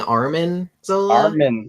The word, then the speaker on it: Arnim Zola: Cruising chicks with Arnim Zola. That's what the Super Skrull does. Are you saying Armin Zola? Armin. I thought it was Arnim. Nope. Oh, you're right. I've been saying it wrong this whole time.